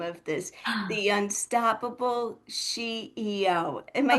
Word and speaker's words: SheEO: of this, the Unstoppable SheEO. Am I saying it right? You She, absolutely are. It is a yes, pun off of CEO.